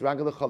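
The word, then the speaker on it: רגליך: So I'll say, even though it's written raglecha singular, it's pronounced raglecha like a yod, which means your feet,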